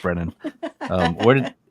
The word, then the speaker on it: Braonain: time with it and luckily Lucas helped me pronounced Brennan um where did how did you get that